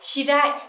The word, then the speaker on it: 知り合い: Và cả cái cụm này ghép lại mình sẽ đọc là shirai, danh từ ở đây là người quen, đúng không?